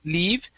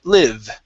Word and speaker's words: live: So we're looking at the short I sound. So instead of didn't leave, it's didn't live.